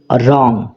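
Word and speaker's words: wrong: এটা ভুল this is রং this মানে এটা রং মানে হচ্ছে ভুল দিস ইজ রং এটা ভুল তো এখানে দেখো রং এই শব্দটার ডব্লিউ এই লেটারটা উচ্চারণ হচ্ছে না তাহলে মনে রাখবে ইংরেজি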